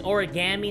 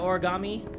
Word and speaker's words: origami: guy with the goatee the one who says origami instead of origami I'm triggered by the way by the way people say origami in this game nobody seems to know how to say it right I don't get it